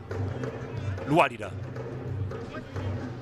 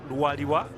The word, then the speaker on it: Luadiwa: Luadida. Back to the goalkeeper, Sekaja. Well, actually, pronunciation, Luadiwa, that's his name.